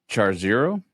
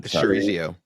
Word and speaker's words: chorizo: Um I'm hoping I'm pronouncing this correct, Manchego. Firm, uh buttery, excellent with char zero. Char zero I'm probably blowing that. Chorizo uh chorizo.